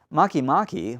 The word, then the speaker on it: Makemake: degrees from the ecliptic now makimaki which is spelled Makemake for us Americans has one moon discovered